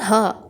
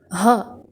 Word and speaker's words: ه: இது ஹா. இது 27வது எழுத்து. இதுக்கு சத்தம் எப்படி வரணும் அப்படின்னா வயிற்றுலேருந்து வரணும். அதாவது ஹா, ஹா அப்படின்னு சொல்லணும்.